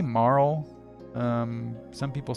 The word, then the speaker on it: Marle: among the fan base the pronunciation of Marl's name. You got 189 said Marl, 133 said Marley. I know that famous speedrunner Pooxel says Marley. Uh so whatever. At any rate, I say Marl, but as far as